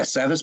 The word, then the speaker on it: Savas: Yeah, Savas Beatie.